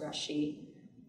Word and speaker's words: rachis: The center part here is the rachis, sometimes pronounced rashi.